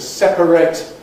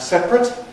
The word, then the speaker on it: separate: Uh well, I gave you some other examples of this, the verb and adjective to separate and separate, pronounced differently but spelled the same.